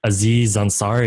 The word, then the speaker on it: Aziz Ansari: Aziz Ansari.